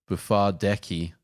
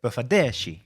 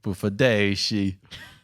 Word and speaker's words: Bufardeci: And I'm going to say your last name wrong, man. Bufardeci. No, it's a Bufardeci. Bufardeci.